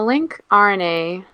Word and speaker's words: lncRNA: an lnc rna well a link rna or like link is how people typically pronounce it okay ln a million